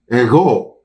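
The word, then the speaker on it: ἐγώ: First, the word ego, pronounced ego in Greek, in which it simply means I or me.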